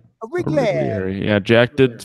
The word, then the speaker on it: Origlieri: It's Joseph Origlieri. Origlieri. Yeah, Jack did phonetically Mario.